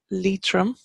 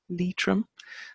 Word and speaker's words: Leitrim: with us over here we have Leitrim Leitrim and it's Lea trim the gray ridge and that should actually